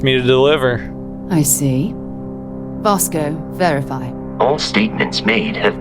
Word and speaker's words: Vasco: here we are with Vasco Vasco it's really Bosco I gotta start saying it right let's enter the lodge